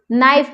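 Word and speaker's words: knife: World नाइफ में के का उच्चारण नहीं आ रहा है।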